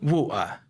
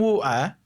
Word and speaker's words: water: Aí ela vem e fala wua, wua. Sai, would you like some wua? Wua. E aí você não tá pronto para ouvir water sendo pronunciado como wua.